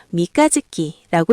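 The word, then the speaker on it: 三日月: 한자로는 3일 월이라고 쓰는데 읽을 때는 훈독을 사용해서 미가짓기라고 읽습니다.이는 이는 3일째 뜨는 달이라는 뜻의 순수 일본어 표현이라고 하네요.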